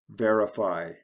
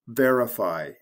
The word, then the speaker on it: verify: IFY, verify, clarify, specify. For these, if there are more than two syllables, the syllable before the ending is stressed. For example, verify, signify, declassify.